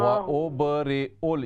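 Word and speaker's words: وَأُبْرِئُ: व उबरिउल, ये या साइलेंट है, यहाँ पर हम हमज़ा के ऊपर पेश पढ़ेंगे।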